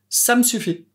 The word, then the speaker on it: ça me suffit: Tu remarques qu'à l'oral, quand on le prononce vite, le E du pronom me n'est plus prononcé. Ça me suffit.